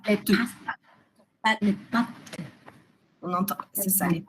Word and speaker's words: pâtes: Les past les pâtes. Les pes. Les pâtes. On entend. C'est ça. Les pâtes. On entend pas le s.